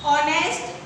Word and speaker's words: honest: Okay, note the words ऑनेस्ट however beginning with consonant H but H is silent, so they beginning with vowel sound O.